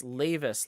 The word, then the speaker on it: Lavis: now we know oh it's lavis like Davis oh and jibron okay